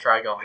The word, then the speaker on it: Trigon: Also, another thing, if you get possessed by Trigon, and that's his name, right? Trigon.